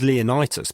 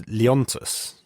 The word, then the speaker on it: Leontus: name for uh oh I was actually thinking it was leonitis but it's leontus is it leontas or Leonidas no because there's no I in between the T so it's Lions so